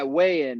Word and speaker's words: WeighIn: WeighIn is a startup here in Denver, and when I graduated, kind of like weighing in on a topic. The concept was to watch a sporting event and weigh in what's going on.